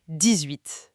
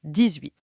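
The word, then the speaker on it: dix-huit: Et 18, attention, le H de 8 est muet. Donc ça commence par une voyelle. Ah, liaison. Comme pour 10 ans, on dit 18. 18. Exactement 18. Très bien. Et même chose pour 19. Le N voyelle mais Ah, liaison quand même. Oui, ici aussi on dit 19. Le X de 10 devient z devant 18 et 19.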